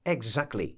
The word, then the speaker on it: exactly: formy wymowy tego słowa najczęściej słyszy się to słowo jako egzakli takie egzakli to te jest te niemym po prostu kocham nie ma egzakli Możesz powiedzieć płasko egzakli natomiast Zdarzało mi się